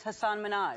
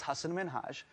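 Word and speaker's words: Hasan Minhaj: television good please because everyone that says your name says hassan minaj yeah but the real way you pronounce it and this is a big deal because my parents are here it's hassan minhaj and people always mispronounce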